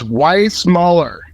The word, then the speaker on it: Weissmuller: It's Weissmuller.